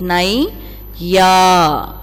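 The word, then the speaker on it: नैया: So while you spell this word, you should read like this: nai ya, and pronounce this word as naiya.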